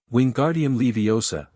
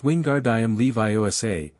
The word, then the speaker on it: Wingardium Leviosa: Wingardium Leviosa, he shouted, waving his long arms like a windmill. You're saying it wrong, Harry heard Hermione snap. It's Wingardium Leviosa, make the gar nice and long.